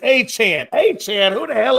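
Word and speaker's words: Achane: Uh Ashen. No, it's Achan.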